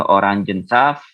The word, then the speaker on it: Orangensaft: Jangan lupa ya Orangen, jadi bukan orange tapi Orangen, ya Orangensaft. Lalu Wasser, Apfelsaft, Cocktail, di Limonade, der Sirup, di Cola, terakhir di Heiße Schokolade.